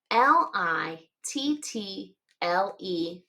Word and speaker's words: little: L I T t L E. Little. We don't usually pronounce it like that. Little. We say little. And so these two T's kind of sound like D.